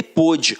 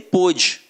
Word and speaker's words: pôde: Aqui, ó, um dia ele pôde, hoje não pode mais. Reparem que a pronúncia é até diferente, né, cara? Então, não teria nem por que pensar em algo... Então, ó, um dia ele pôde, hoje não pode mais.